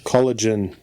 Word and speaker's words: collagen: Collagen is the correct way to pronounce it. Collagen. I know. Yeah. So we were actually pronouncing it wrong too. No, you were saying collagen. No, you're all saying gin is the last thing. It's jun. Jun.